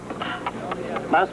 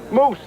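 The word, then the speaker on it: mousse: what on me come Mouse pie Mouse moose moose he doesn't know how to pronounce French it's a it's a moose pie Chocolate Moose pie oh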